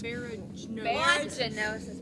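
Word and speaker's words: baragnosis: Sorry, it's spelled B-A-R-A-G-N-O-S-I-S. Baraganosis.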